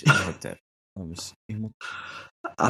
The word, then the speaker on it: Imhotep: Imhotep. Dismissal of Imhotep. I think we pronounced it wrong remove the whole H. episode. Have yeah, we? Yeah, you said Imhotel.